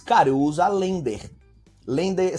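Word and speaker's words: LANDR: Lender se escreve L-A-N-D-R.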